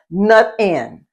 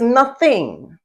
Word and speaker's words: nothing: They drop the endings of words. And a good example of that, I think, would be the INGs, nut in, nut in. The word is nothing, THING, nothing. Put the tongue between the teeth to pronounce the TH sound.